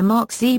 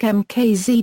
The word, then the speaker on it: MKZ: Management at Lincoln originally announced the MKZ with the Mark Z pronunciation during the 2006 auto show circuit, but eventually changed it to the phonetic MKZ due to confusion observed among focus groups and dealership personnel.